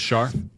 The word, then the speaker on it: Char: Char Char gets it it is CH but okay is sh is Char it's funny watching people who